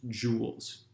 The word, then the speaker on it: joule: measured in this unit j which is pronounced joules you can laugh at